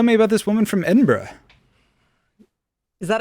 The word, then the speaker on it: Edinburgh: so aviva tell me about this woman from edinburgh is that how you say it okay good